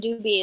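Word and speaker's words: Dubhe: That I think Merak and Dubi is the way that most people say it.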